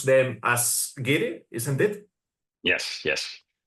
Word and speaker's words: guiri: The Spanish people, they tend um, to pronounce them as Guiri, isn't it?